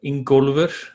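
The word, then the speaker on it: Ingólfur: very easy um but my full name is in golfer or in golover as we pronounce it back home incorporated would be the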